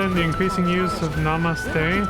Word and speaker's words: namaste: Religious and secular culture come together in the increasing use of namaste, pronounced namaste.